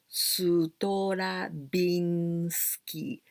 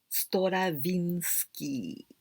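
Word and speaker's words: ストラヴィンスキー: e v sound v but we say like this strabinski sutora binsky stravinsky is a very famous russian musician stravinsky stora vinsky this is again the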